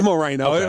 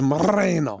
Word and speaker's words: Moreno: It is Moreno. Well, it's actually you got to roll your Rs. It's actually the way you should pronounce it is Moreno.